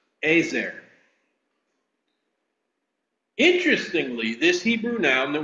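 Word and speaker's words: עֵזֶר: is the word hel and in Hebrew it's pronounced azer interestingly this Hebrew noun that we translate into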